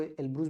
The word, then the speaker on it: Elbrus: इसके अलावा यूरोप में जो माउंट एल्ब्रस है, ELBRUS, एल्ब्रुस या एल्ब्रस, एल्ब्रस पढ़ते हैं, कहीं कहीं पर आपको एल्ब्रुस भी मिल जाएगा हिंदी के बुक में, लेकिन एल्ब्रस पढ़ते हैं। तो एल्ब्रस है।